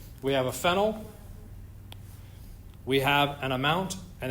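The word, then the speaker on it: phenyl: what's the other substituent except that pronunciation also I'd call it fennel but that's okay we have a fenel we have an amount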